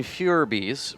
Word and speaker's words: Phoerb: game today called broken fures which is kind of spelled like Phoebe but it's actually Furby and we're looking at